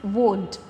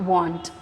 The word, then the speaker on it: won't: they won't have washed remember the pronunciation it's won't it's not want okay he won't have